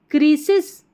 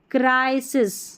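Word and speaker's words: crisis: Humanity humanity नहीं humanity मे overcome many present क्रिसिस इसको क्या क्रिसिस पढ़ेंगे नहीं क्राइसिस क्राइसिस पढ़ना है ठीक है संकट जो आता है उसको पढ़ते हैं क्राइसिस।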